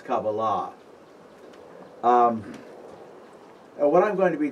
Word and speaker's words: kabbalah: thing by the way any word in hebrew ending in a h the accent is on the last syllable okay so it's not kabbalah it's kabbalah what i'm going to